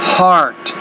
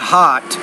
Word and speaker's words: heart: diabetes diabetes heart problems heart so not hot but heart heart problems all kinds of